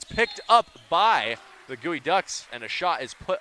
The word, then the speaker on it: Geoducks: it appears that the the mascot for our opponents here tonight is actually the gooey ducks and I am pronouncing it wrong as here's kav